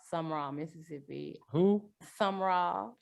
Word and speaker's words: Sumrall: And life growing up, I grew up in South Mississippi in this little town called Sumrall, Mississippi. Who? Sumrall. Sumrall. Some is spelled Sumrall.